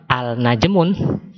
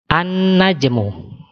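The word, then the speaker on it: النجم: kalau kita masukkan Al bacanya bukan Al najmun tetapi an najmu Jadi huruf awalnya melebur pada huruf nun ya Saya ulang najmun kita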